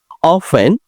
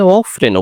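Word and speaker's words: often: অফেন, প্রায়, এটার উচ্চারণটা আমেরিকান স্টাইলে অফেনও বলতে পারবেন।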